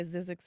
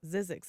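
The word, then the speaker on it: Zzyzx: You have a song that I always thought it was every time I drive by Zizzix Road.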